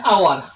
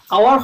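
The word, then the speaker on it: hour: For example চাও এন আওয়ার আওয়ার শব্দট প্রথমতে কি আছে? এইচ আছে কিন্তু এইচটু সাইলেন্ট হয়েছে অনুচ্চারিত হয়েছে।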